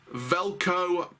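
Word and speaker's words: Veljko: manager reading the season velcro pounovich it's a silent j in his first days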